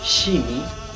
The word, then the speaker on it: shimi: ya pero eso no es el caso es shimi ya tal como estoy pronunciando china este Perdón sh I m i